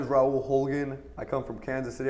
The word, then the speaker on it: Holguin: is it pronounced ra huligan how's your name pronounced well my name is Raul Hogan I come from Kansas City I was born